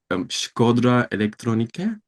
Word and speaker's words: Shkodra Elektronike: Okay, so the first one was, I hope I will pronounce the name of the group right. Shkodra Elektronike.